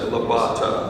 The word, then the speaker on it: Levitard: It looks like Levitard, and that's how some of her husband's relatives pronounce it, but she and her husband pronounce it Labata.